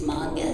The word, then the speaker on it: manga: So my director got me to say, "You can hear me getting kicked in the back," and he goes, "It's manga," like in the background.